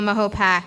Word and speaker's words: Mahopac: Carmel that includes caramel Mahopac and Mahopac Falls that's the proper way to say it um leaving it at